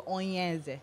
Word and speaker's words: Onyeze: I remember that the book, whenever, like, that's how they spell it, Onyeze. I said Onyeze. The pronunciation is Onyeze.